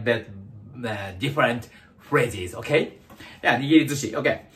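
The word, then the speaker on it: nigirizushi: The most common type of sushi in Japan is nigiri zushi. Nigiri zushi, not sushi. Sushi zushi, okay? Nigiri zushi. Just sound sushi. But nigiri zushi, yeah, nearly a bit different phrases, okay? Yeah, nigiri zushi, okay.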